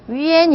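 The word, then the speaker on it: yuan: 다음에 옆에 고 똑같죠 유 땡땡 an 도 yua 에 대신 위엔 이라고 읽으셔야 된다는 거 즉 그 다음에 u 땡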